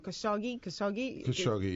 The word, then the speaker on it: Khashoggi: How do you pronounce his name? Khashoggi, yeah.